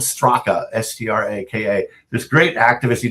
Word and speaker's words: Straka: It's spelled Straka, S-T-R-A-K-A.